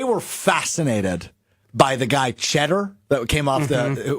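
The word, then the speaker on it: Tschetter: fascinated by the guy cheddar that came off the which was spelled like TS c h TT e r or something and they were fascinated his name was cheddar yeah and they kept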